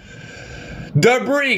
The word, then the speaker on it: debris: 4 3 2 one debris guys debris uh kaapa Kia Mr arh Dio Melissa Oxanna opal Celeste Denise uh dinata very nice the Bri and you're like Lucas why is there an s in debris